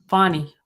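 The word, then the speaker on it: Fani: Fonnie Willis, not Fannie.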